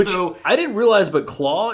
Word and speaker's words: Klaue: I didn't realize, but Claw is not spelled phonetically. It's spelled like Dutchly. It's like Klaue or something. It's like claws without an S.